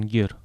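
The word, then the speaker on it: Guerre: Человека звали Мартин Гер. Гир, вообще интересно. Даже написание на латинице отличается только удвоенной «р» и наличием перед «е» буквы «у», которая не читается.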